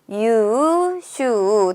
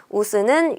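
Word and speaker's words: 優秀: 유슈 둘 다 장음으로 발음하는 걸 체크해 주셔야 돼요. 우스는 유슈가 되어서 정답은 몇 번에 있나요? 3번에 있는 거죠. 이렇게 단음으로 읽으면 안 된다라는 거 꼭 체크해 주시고 자, 요거를 한번 해석해 볼 거예요.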